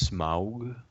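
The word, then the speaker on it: Smaug: of the Rings uh it's pronounced smog yeah whatever uh but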